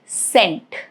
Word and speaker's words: scent: For example, the word scent. Scent, C is not pronounced.